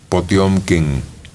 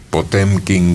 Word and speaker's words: Potemkin: un barco de guerra potyomkin el acorazado potemkin que lo pronuncian de diferente forma que indistintamente la tripulación del barco